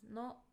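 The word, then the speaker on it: の: It's pronounced as no, no, and it shows that something belongs to someone.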